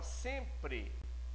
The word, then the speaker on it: sempre: Então, na palavra sempre, eu não tenho a pronúncia do M. Ele nasalizou o E antecedente a ele.